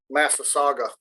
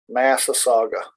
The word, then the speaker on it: massasauga: that that rattlesnake is the master saga so i was saying it wrong massa saga it's the only venomous